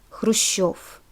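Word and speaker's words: Хрущёв: Note that when we have letter yo in the ending becomes stressed, because letter yo is always stressed in Russian. So it's not Gorbachev, it's Gorbachev and Khrushchev.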